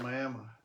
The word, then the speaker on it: Miami: Oklahoma has Miami, pronounced Miami.